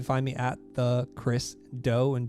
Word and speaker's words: Do: me at the chris doe and dough spelled d o it's pronounced or it sounds like cookie dough but it's just about